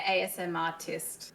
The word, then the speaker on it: ASMRist: She took a huge leap and is now on TikTok and YouTube as an ASMRist. Or do you pronounce it ASMRist or ASM like artist? Yeah, ASM artist. So it's like artist.